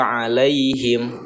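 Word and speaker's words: عليهم: Lai ini adalah ya'lin juga ya, huruf lin. Nah, karena ini terjadinya di tengah-tengah kalimat, maka ini dibacanya lembut, lunak, dan dibacanya pendek, tidak boleh dibaca panjang karena bukan madlin.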